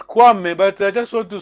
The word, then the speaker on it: Kwame: So you don't pronounce the K? No, you pronounce Kwame, but I just want to spot Amme.